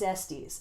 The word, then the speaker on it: Estes: This is Fire Country by David Estes, or Estes, depending on if you want to pronounce it correctly or incorrectly. I think it's Estes, and I met David